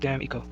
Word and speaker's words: D'Amico: A name like D'Amico, pronounced Damn-Eco, is not too usual a name.